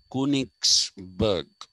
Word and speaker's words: Königsberg: Who was from a place called There should actually be two dots on the O. Königsberg is how you will be pronouncing it.